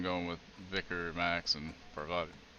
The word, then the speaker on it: Parvati: Like so far I've just been going with Vicar, Max, and Parvati. I keep wanting to say poverty, because that's how it's usually pronounced.